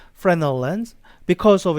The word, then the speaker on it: Fresnel: It's spelled like a Fresnel lens, but I think this S is silent. Fresnel lens, because of its large area.